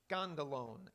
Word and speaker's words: skandalon: The word is skandalon. S-K-A, that's how we'd spell it.